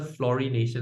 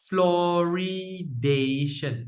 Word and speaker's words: fluoridation: Pronounce the first one, chlorination. Next one, who's the fluorination? I look at the spelling. Fluoridation.